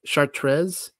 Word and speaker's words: Chartres: sorry here's the actual Cathedral here uh it's pronounced chartres and uh the outside there's the Labyrinth inside